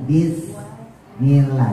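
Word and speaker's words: بسم الله: Padahal kalau huruf hijaiyah sin itu ujung lidahnya di bawah antara gusi bawah sama gigi bawah. Jadi dibacanya bukan bukan saya tadi saya taruh bawah. Wastain bismillah. Bukan bis bukan bukan monyong bukan di atas tapi di bawah. Bismillah. wastainu gitu ya wastainuri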